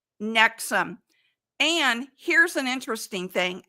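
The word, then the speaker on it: NXIVM: Witness then Scientology then it's called nexum but it's spelled nxi VM nexum and here's an interesting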